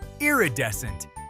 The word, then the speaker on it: iridescent: Just blend ear with eye and descent. Iridescent.